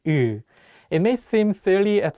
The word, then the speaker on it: 으: The vowel 으 has the same tone position as the Korean vowel 우, but the shape of your mouth is wider.